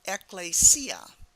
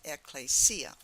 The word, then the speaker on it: Ecclesia: helps is a transliteration that will help you pronounce this Greek word, Ecclesia. But you need to recognize it in the Greek letters, and then this transliteration will help you pronounce it Ecclesia.